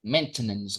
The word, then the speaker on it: maintenance: Very tricky one because we have a verb like maintain, right? So, we have something like maintenance. Maintenance. But, uh, English catches us by surprise.